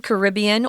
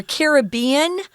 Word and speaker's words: Caribbean: ivan thrashed the southern caribbean or caribbean you can say that either way both pronunciations are correct where union island is